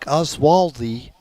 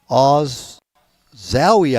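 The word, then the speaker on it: Olszowy: in ninth and Dominic oswaldi o zoi I believe it's pronounced uh he come in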